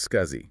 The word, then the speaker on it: SCSI: Then there's SCSI, pronounced SCSI, which stands for Small Computer System Interface.